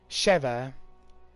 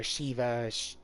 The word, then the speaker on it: Sheva: with his new teammate a Sheva or Sheva so ever any way you want to pronounce her name and went into Africa